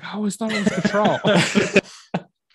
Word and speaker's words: Cattrall: Cattrall? Kim Cattrall. Kim Cattrall. Okay. Chad, I'm just being crazy. Dumb. He's trying to throw you off, Josh. Yeah, really. I was like, I always thought it was Cattrall.